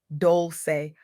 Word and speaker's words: Dolce: I'm your host, Dolce, pronounced doulce, like sweet softness whispered in French.